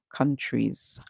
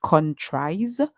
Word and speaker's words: countries: true e countries okay a lot of you may want to say contri because this if you put this as a word it would say tries however in this word we hear the e sound for the i e rather than the I sound so countries and you hear the S at the and you heard the song that it makes right you hear countries you don't hear countries you say countries Z so the S